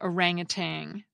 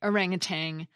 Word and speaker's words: orangutan: I pronounced the word orangutan, but if you look at the spelling, there is no G at the end.